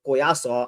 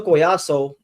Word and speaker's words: Collazo: And Oscar Collazo or Collazo, I I I use the the Hispanic pronunciation. Oscar Collazo is on the pound-for-pound list.